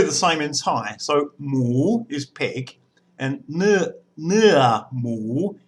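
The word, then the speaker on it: หมู: So it makes a rising tone, mu, and that means pig in Thai. Now, in English, we have pig and pork, and it's really the same in Thai. So mu is pig, and nua mu is pork.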